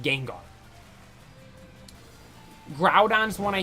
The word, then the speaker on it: Groudon: how he pronounced Gengar groudon's one I hear a lot of people say Groudon it's Groudon ground but you don't see the groomed it's ground um Rayquaza people say Rayquaza